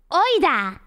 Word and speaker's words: oida: And one word that we use all the time is oida.